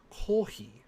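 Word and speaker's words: コーヒー: yes coffee is life kohi there is the japanese pronunciation for coffee is very popular in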